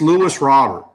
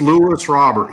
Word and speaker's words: Luis Robert: him play and y'all it's Lewis Robert he it's Luis Robert he ain't French he's of Cuban descent and the way he wants his name pronounce it Luis problem I know there's